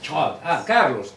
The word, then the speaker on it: Charles: ¿Cómo se pronuncia tu nombre? Charles.